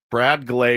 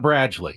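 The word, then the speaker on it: Bradgley: So, he's not Bradley.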